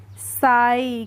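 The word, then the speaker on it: sigh: की क्या हो जाएगी एसआई की हो जाएगी साई क्या हो जाएगी ए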